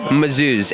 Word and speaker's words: Mazouz: David, it's spelled like David. A. Mazouz.